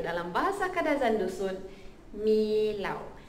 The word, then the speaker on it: milau: Yang seterusnya bulan 11, which is bulan kelahiran saya, adalah bulan 11, iaitu dalam bahasa Kadaz and Dusun Milau. M-I-L-A-U.